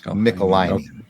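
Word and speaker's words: Michelinie: and they wrote back it rhymes with pickle my knee so it's mickelein i've heard van's podcast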